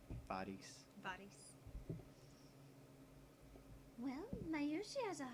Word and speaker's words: Faris: So I guess they're going with the actual pronunciation of Faris instead of Ferris. Faris.